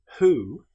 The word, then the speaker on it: who: However, with the word who, this is pronounced as if the W didn't exist.